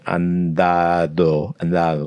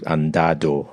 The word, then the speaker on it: andado: And by the time it gets to the last D, it's just gone. If he's looking at the spelling, and a lot of like English speakers, andado, and they'll be pronounced. Yeah, so I would be hitting both those D's exactly the same. I'd be like dado. In this hard D.